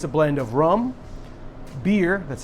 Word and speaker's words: Byrrh: This cocktail is called Half Past Midnight, and it's a blend of rum, Byrrh, that's how it's pronounced, it's not my fault, it's B-Y-R-R-H.